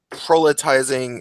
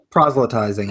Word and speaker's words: proselytizing: like an ideologue authoritarian, and just going around proletizing, is that the word? Proselytizing, I think, Yeah, is how it's yeah, pronounced.